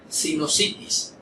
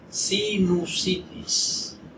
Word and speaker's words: sinusitis: Sinusitis. ¿Que sí? Pues no. Lo correcto es sinusitis. No sinusitis.